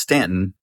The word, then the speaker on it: Staunton: that was my conversation with Ian Boden of The Shack and Maud and the Bear, both in Staunton, spelled Staunton, pronounced Stanton, in Virginia, rural Virginia.